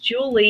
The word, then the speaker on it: Julia: Well, my name is Julia, and my first name is pronounced Julie, even though it's spelled Julia, because my parents did that to me.